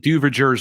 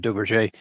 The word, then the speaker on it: Duverger: You could pronounce it Duverger's law. That'll help you more phonetically find it. It's probably closer to Duverger.